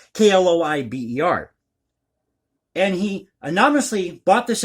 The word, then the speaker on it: Kloiber: I believe that's how you pronounce the last name. It's Kloiber.